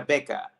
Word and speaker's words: Väcka: otra manera mejor en en sueco es beca se pronuncia beca sí Yo igual estoy como practicando para decirlo porque tengo que decirlo bien pero me sale vaca pero s es beca